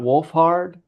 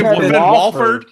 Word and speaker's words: Wolfhard: Did you say Walford? Walford. I was like, have I been mispronouncing his name all day?